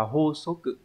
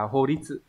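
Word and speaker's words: 法則: Thì chữ này phải đọc là hô số cự. Hô số cự, chứ không phải là hô đi sự.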